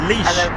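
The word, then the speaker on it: Laois: Arslan Zia Zay Ahmed Kundi is saying that it's pronounced leash.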